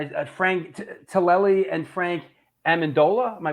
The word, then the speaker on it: Amendola: uh when I at Frank tillelli and Frank Amendola am I pronouncing that right yeah yeah yeah ironically they're